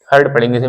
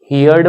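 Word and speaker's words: heard: ए आर डी हर्ड हर्ड पढ़ेंगे मैं लिख दे रहा हूं हर्ड यर्ड मत पढ़ना यर्ड कु लोग यर्ड पढ़ते यर्ड हर्ड बोलेंगे हर्ड ह फिर र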